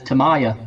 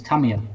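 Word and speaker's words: Tamiya: Yeah, but he probably says Tamaya, and it's Tamia.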